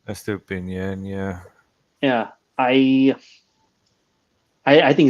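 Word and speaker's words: Estupiñán: But replacing him with S2, how do you pronounce his name? S2Pinan. Estupinian, yeah.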